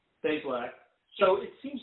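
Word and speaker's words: Bazelak: the the recruit Connor, I forgot how to pronounce his last name. Basilisk or Basilisk. Basilisk.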